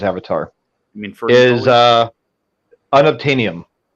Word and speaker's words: unobtainium: avatar james cameron's avatar i mean is uh unobtainium because it's unobtainable unobtainable um i think